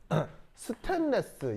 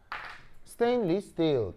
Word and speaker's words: 스테인리스 스틸: 이거를 스테인레스, 이것도 이상하죠? 스테인레스가 뭐예요? 스테인리스 스틸.